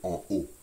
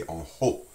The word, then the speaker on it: en haut: Internationally, you would not say that, it would be oh, it would just be en haut. When we say en haut, we pronounce the H sound.